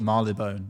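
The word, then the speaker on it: Marylebone: Marley Bone. It's kind of confusing because it's spelled me Mary Ellie Bone.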